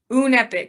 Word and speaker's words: Unepic: Unepic. It's spelled Unepic.